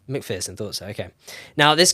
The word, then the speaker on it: McPherson: P-H-E-R? P-H-E-R, yeah. Say Pearson. McPherson, thought so, okay.